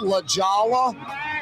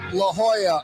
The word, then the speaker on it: La Jolla: his palatial estate in I think it's pronounced La Jala lajala joining us live from La Jolla California right outside San